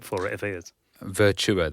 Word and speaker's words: Virtua: Virtua, that's how you say it. I'll get told off for saying What are you saying, virtual?